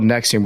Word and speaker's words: NXIVM: it I just don't I forget how to pronounce it but it's called Nexium we're going to talk about it a little